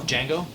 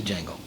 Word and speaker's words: Django: Django?